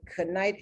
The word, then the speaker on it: knit: didn't speak the language, you would think it would be, I don't know how you would even pronounce it, knite, and knit, but that K is silent.